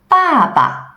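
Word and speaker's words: 爸爸: you now feel nothing neutral tone is shorter and softer like the sound you sigh for example Baba falling the neutral means dad may may falling the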